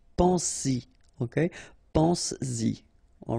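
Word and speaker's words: penses-y: But then if you put this Y, so this pronoun after, then you will have to put back this S, just to produce it orally, because you will pronounce it pense-y, pense-y, okay?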